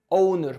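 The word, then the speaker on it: honour: نعمل ريستور عشان يرجع تاني اونر اونر وبص الكلمه دي فيها اتش بس الاتش هنا سايلنت مش هنطقها فالكلمه اسمها اونر مره كمان اونر يكرم او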